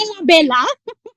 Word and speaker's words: Ella Bella: And Ella, I almost said Bella. Ella. It's Ella Bella. It is Ella Bella. So it rhymes. It rhymes nicely.